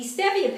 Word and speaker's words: stevia: Now the problem that people don't know is stevia is very sweet, and it's pronounced stevia, not stevia.